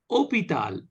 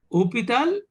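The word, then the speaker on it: hôpital: pronounced similarly Hospital comes opital opital H is not pronounced is pronounced okay so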